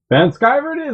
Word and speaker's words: Vanschiver: an american so everybody's gonna go with the german pronunciation not the random american pronunciation well i'm american so van skyverd is that you don't